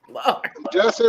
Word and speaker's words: Jussie: smallett just said justin jesse rhymes with tussey lord have mercy i